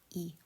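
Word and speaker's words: い: means baby a kachan the second herana is e um it's kind of said like key the end of key e um there's some it's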